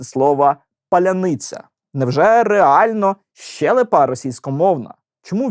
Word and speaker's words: паляниця: питанням То чому ж мордо ряни не здатні вимовити слова паляниця Невже реально щелипа російськомовна Чому вічно виходить Щось